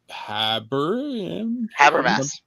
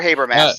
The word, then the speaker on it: Habermas: FBI Director Carson, NSA Director Habermas. Okay, sure, yeah. Or Habermas. I've heard it pronounced both ways.